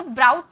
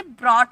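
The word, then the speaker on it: brought: तो ब्राउट नहीं बोला जाता। इसे ब्रॉट बोला जाता है।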